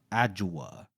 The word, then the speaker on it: Adjawa: world uh in the capital city of adjawa is that how you say it perfect and logan is in